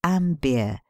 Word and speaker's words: Amber: Amber, pronounced Ambier, is to be approached